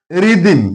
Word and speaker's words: rhythm: here h is silent rhythm here h is silent rhetorical here h is